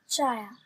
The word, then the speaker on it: child: ثم عندنا كلمة child. Child. إذا عرفت السي اتش تنطق ش.